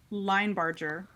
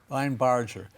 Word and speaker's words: Linebarger: introduce us to is Paul logger am I pronouncing that correctly is it L Barger or Lind barer line Barger line Barger so who was he and why is he